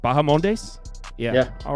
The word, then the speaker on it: Bahamondes: lendo minus 135 next up Turner vers uh baham mes I'm not even going to uh damn I probably butchered that uh no that was that was correct bahamondes yeah yeah all right nailed it um so